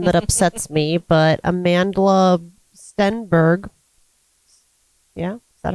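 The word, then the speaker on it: Amandla: This is a stupid name that upsets me, but Amanda Stenberg. Yeah, is that how you say it? Yeah, Amanda. Amanda with an L in it, randomly for no reason at all, is 26 today.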